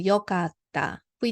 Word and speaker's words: よかった: So, E change to よかった。We don't say いかった。よかった。So, same way works かっこいい because here EE, double EE.